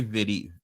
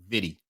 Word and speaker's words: Vitti: I think I'm pronouncing his name right. It's Gary Vidy. Yeah. V I ti. Right. Vidy.